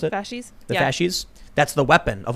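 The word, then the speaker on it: fasces: That's what what is it, fascist? Is that how you pronounce it? Fascies.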